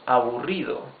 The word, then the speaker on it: aburrido: You can also say less boring, menos aburrido, menos aburrido. These are 4 syllables. A-bu-ri-do. Remember, the double R is the rough sound of the R. Okay? Aburrido.